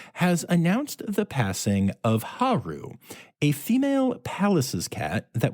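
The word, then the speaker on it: Hal: the the spelling of the name was h a l like like the name how but I guess in the um the language of the area that palace's cats are from that is pronounced Haru uh but it was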